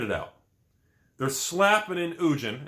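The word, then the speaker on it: Ugin: They're slapping in Ujin, and that's how you pronounce it. I don't care what you think otherwise. They put Ujin in the set, and they're throwing in Jace the Mind Sculptor.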